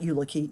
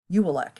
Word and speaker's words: Ulek: That's a U, no, not Ulicki, Ulek. Ulek. Ulek is how you pronounce his last name. It's a name that looks like ukulele, but it's not that. It's Ulek.